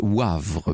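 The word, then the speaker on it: Woëvre: Laurence me fait amicalement observer que dans la Meuse, la Veuvre, ça se prononce Wavre, me dit-elle sur place.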